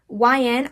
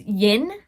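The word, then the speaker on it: Y/N: Fun fact, for a while, YN I thought it was pronounced Yin.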